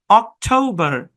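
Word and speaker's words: October: অক্টোবর, অক্টোবর, খুবই সহজ।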